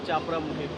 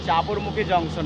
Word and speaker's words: চাপড়মুখী: 3:28 এসে পৌঁছালাম চাপড়ামুখী। অবশেষে দুপুর 3:28 আমরা পৌঁছে গেলাম চাপড়মুখী জাংশন। আর সরি, আমি উচ্চারণটা একটু ভুল করেছিলাম, চাপড়ামুখী বলছিলাম, ওটা চাপড়মুখী জংশন হবে।